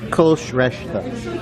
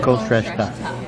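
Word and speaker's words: Kulshreshtha: It's Kolshreshta. Yeah. Instead of saying just take out the H. So Kolshreshta.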